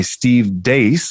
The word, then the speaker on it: Steve Deace: today i'm very privileged to be joined by steve dace i'm pretty sure that's how you pronounce it steve did i get it right